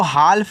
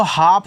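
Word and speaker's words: half: याद रखना स्टूडेंट इसको हाल्फ नहीं पढ़ना है। जब आपका यहां पे एल एफ हो तो आपका जो यहां पे एल होता है ना वो आपका साइलेंट होता है। ठीक है? तो यहां पे इसको हाफ पढ़ना है। इस तरीके से एच से ह ए से आ का मात्रा इसको साइलेंट और एफ से आपका फ ये आपका हो गया हाफ।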